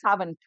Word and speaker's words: savant: It is pronounced also as savant.